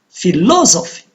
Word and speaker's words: philosophy: Philosophy, philosophy, low, and it is on the second syllable.